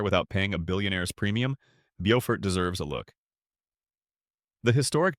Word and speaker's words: Beaufort: Beaufort, pronounced like Beaufort, is low country life at its most enchanting.